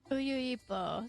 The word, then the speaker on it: Uyuipo: Uyuipo.